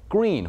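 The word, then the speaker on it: Gruene: For example, green, which is certainly not spelled like the color, umble, which is spelled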